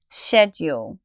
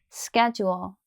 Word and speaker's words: schedule: of the words together shed your schedule another thing that's going to help you remember is you should pronounce in schedule now let's learn the American pronunciation listen first schedule schedule schedule okay in